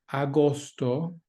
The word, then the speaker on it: agosto: Agosto, agosto, there's no agosto in there, there's two O's, agosto.